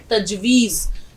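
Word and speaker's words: تجویز: ये और प्लस ज तजवीज ज की आवाज ठीक निकालिए मैं इसको लिख रही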